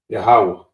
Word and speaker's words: Yahweh: Yahweh. That's how you pronounce the Most High name.